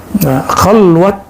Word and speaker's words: khalwat: Khalwat dar anjuman, bukan khalwah ya. Orang Persia tidak bisa baca di dalam pelafalannya, walaupun di hari-hari bisa.